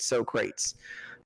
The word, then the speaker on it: Socrates: We can't, do like a Bill and Ted's Excellent Adventure, jump in a telephone booth, go back in time, and get Socrates.